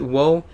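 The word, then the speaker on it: を: hitting on a character most people will still pronounce it Oh some people sometimes pronounced it whoa but you always type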